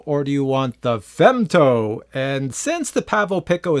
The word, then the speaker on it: Femto: I pronounce that correctly they name this the Pavo femto f m t o so I'm pronouncing it fto anyways this is a